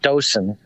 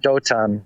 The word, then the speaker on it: Dothan: I mean, in Hebrew, it would be, most people pronounce it Dosan or Dotan, but it's, but yeah,